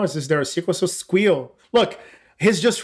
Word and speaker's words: SQL: like, because you're saying squeal and my squeal. Because he's right. I mean, it's when you think about it, it's the only possible pronunciation. Because it's not a sequel. Like SQL, it's too weird.